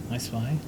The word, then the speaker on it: ESPEYE: I spy, because you can pronounce it that way.